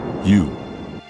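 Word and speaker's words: 勇: Pronounced, yu.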